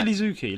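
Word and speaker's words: Iizuki: Just say Lizuki.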